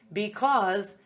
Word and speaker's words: because: is spelled irregularly so both of these letters s and e make that z sound in this word did you notice anything different